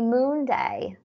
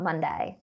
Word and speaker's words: moon day: username is a Cody moon day they clarified it's pronounced moon day not Monday so that explains because earlier